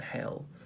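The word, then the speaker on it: Hehl: um offering for sale can be can be appropriation can be theft in our against python and hell um h-e-h-l i think it's pronounced hell is it hell 1976 so offering to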